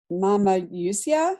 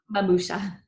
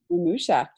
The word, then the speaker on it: Mamusia: Eva's mother, it was Polish, and she called her Mama Yusia. Is that how you would pronounce it? I was wondering that. Mamusia. Mamusia.